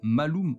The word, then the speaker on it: malum: Il est possible que l'image moderne de la pomme provienne du fait que le mot pomme se prononce malum en latin, alors que le mot mal se prononce malus.